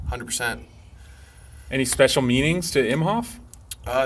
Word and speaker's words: Imhof: uh you know because most people say i'm hoth when they pronounce my last name you know he's always pronounced imhoff so then uh colton